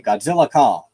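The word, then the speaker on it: Godzilla x Kong: There's like an X in the middle between Godzilla and Kong. And my boyfriend told me you don't pronounce that. You just say Godzilla Kong.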